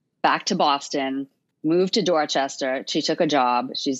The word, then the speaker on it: Dorchester: and writers and yeah i'm saying dorchester but it's that's not the correct pronunciation if you're from there right you got to say dorchester dorchester and people who are